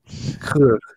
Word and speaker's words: Coeur: I have picked, unfortunately, the banker whose name I can't pronounce. Jacques Coeur. Coeur.